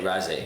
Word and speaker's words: Raasay: So the Isle of, how do you pronounce this again? I think Raasay? Raasay.